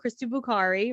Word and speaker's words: Krista Buccari: Krista Buccari, right? Am I pronouncing your name right?